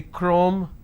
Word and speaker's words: chrome: sound for example change but when i have the word chemistry ch becomes ker sound so i say chemistry i say chrome so i do not